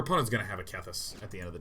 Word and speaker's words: Kethis: By the way, this card is, I believe, pronounced Kethis, but I love saying Keitheth.